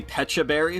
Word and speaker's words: Pecha Berry: It is definitely Pecha Berry because it's like a peach, but I've heard it Yeah, I always pronounced just call it P.E.K.K.A.